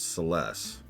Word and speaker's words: Celes: that's also when I found out that it's pronounced celes among other things how'd it go Clive did